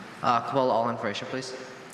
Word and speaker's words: cabola: Your word is Cabola. Kabul, all information, please. Cabola has no alternate pronunciations. Cabola is a noun.